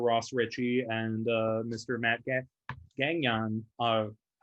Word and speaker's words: Gagnon: is it's a French name, and so that's the French pronunciation.